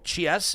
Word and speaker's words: Chies: Mauro Chies, is that how you say it? Yeah, Cheese, yeah.